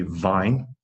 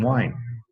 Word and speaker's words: vine: So, problem is, when you are speaking Thai, often you will say w instead of v. You can see how if you say it wrong, people will not understand what you are saying. If you cannot say vine, people will think you mean wine.